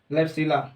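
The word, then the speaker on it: Klebsiella: ठीक है, इसका एग्जांपल याद रख लीजिए, क्लैप्सिला, बी साइलेंट रहता है, क्लैप्सिला।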